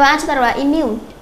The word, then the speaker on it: immune: Câu số 32, đáp án A chúng ta đọc là immune. Immune thì cho âm sẽ rơi vào âm thứ 2, là vì cái âm I là âm ít chứa trung âm.